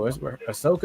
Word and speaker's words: Ahsoka: Ahsoka is how you pronounce her name?